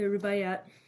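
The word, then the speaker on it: Rubaiyat: that I'm not counting which are this the rubayat that's how you say it of Omar kayam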